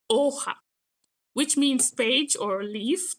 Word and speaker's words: hoja: And remember in Spanish, we don't pronounce the H, so we say hoja, which means page or leaf typically.